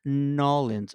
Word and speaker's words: New Orleans: So I thought that was also an interesting sort of familiarity, Yeah, interesting familiar, just something about Nolans, actually how you pronounce it, Nolans.